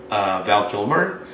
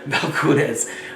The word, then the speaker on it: Valcunes: said and you know, my boy Jamie goes, Val Kilmer? I said, no, not Val Kilmer. Valcunes.